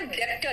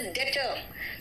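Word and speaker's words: debtor: Depth, बेटा कई लोग डेप्थ बोलते हैं, इट इज not depth, it is date, it is date, and इट इज नॉट डेप्टर, इट इज डेटर।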